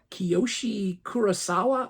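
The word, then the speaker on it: Kiyoshi Kurosawa: guy's name and I apologize um it is Koshi kurasawa I believe is the how you pronounce his name this is a movie that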